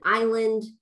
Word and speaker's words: island: The silent letter in island, you know, that's throwing students off, it throws adults off, et cetera.